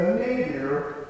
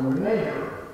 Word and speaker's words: nadir: Of course, you can set up your own eras the way you want, but this is called the nadir, or nadir, both ways are fine, of racial relations.